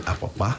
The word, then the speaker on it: Apapa: I'll try and pronounce it the way he pronounced for me. So I have Comrade Alhaji Bashiru Lamidi Apapa. That is Todomi Apapa.